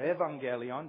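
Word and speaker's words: εὐαγγέλιον: word gospel comes from the Greek word along Gallion or Evangelion depending on whether you want to use the ancient pronunciation of Greek or the modern-day pronunciation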